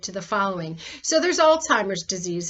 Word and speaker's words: Alzheimer's: the following so there's alzheimer's disease it's the most well-known and it by the way it's pronounced alts hymers um and it's not old-timers it's usually aggressive and